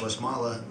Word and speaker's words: Westmalle: four years but west mall uh are pronounced west mala correctly is a fantastic trappist